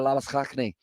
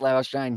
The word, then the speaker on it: Labuschagne: As well, I feel like I'm getting used to saying it the South African way with Labuschagne, as well as kind of the pronunciation along those lines.